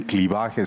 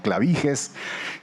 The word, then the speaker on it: clivajes: Inicialmente no le decían clivajes, sino clavijes.